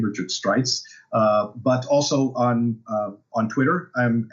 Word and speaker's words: Streitz: Most people pronounce it Streitz, but it's really Streitz. That's just one of those interesting German foibles of the language.